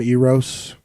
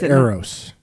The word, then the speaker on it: Eros: I was calling him Eros both times we had him on. It's Eros. Oh. Is how you pronounce it.